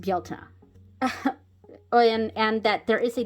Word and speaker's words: Bealtaine: It's just I wish people were more aware that it is pronounced Bealtaine.